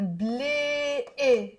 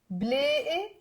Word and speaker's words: بلاقي: دايما, بلاقي, I find. بلاقي. You see here, it's b with a scoon, lam with the alif, and the qaf, bلاقي. Okay, but we don't pronounce it q, bلاقي, like that.